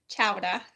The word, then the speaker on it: chowder: like Peabody you don't you don't pronounce the r chowda so if you get